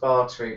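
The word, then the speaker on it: Báthory: b b it's like spelled bori though it's pronounced barter but it's bori for ease of like actually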